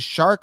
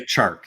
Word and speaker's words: Chark: Do you pronounce it Shark or it should be? I would say Chark. Yeah, Chark. It should be Chark. I know. Everyone just calls him Shark.